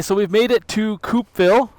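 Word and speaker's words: Coupeville: we've made it to coupville I believe it's pronounced coupville c u pville um is a historic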